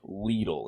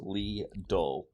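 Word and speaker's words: Lidl: it up right here the German supermarket chain leadle is pronounced Le you look it up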